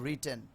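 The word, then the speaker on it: written: আমি লিখেছি, লিখেছি, আমি এই ছির জন্য হচ্ছে হ্যাভ, আর লেখার পাস্ট পার্সেল হচ্ছে রিটেন। অনেকে বলে রাইটেন, আচ্ছা রাইটের উচ্চারণটা হবে রিটেন।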